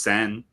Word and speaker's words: Seine: It's pronounced Seine.